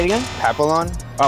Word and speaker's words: Papillon: Papillion. Try again. Papillon. Say it again. Papillon.